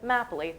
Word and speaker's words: mapoli: out Programming note, we pronounce it Map Ali. There was a very scientific poll that was done on Twitter about how to pronounce Map Ali.